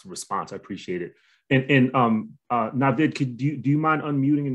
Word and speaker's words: Naveed: Am I pronouncing your name properly? It's Navid. Navid.